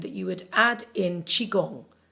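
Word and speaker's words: qigong: you would add in chiong okay chigong which is spelled Qi g o n g now chiong means life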